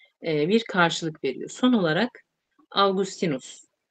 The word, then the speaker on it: Augustinus: Son olarak Augustinus, Augustinus şeklinde de okunur bu.